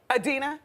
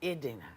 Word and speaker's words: Idina: Idina. Adina? Idina. Oh, I said it wrong. It's Idina Menzel.